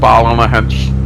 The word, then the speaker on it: Ballynahinch: It's called Ballynahinch. Wow. Like you do a silent Y, you know, so it's like Ballin, and then Hinch just on the.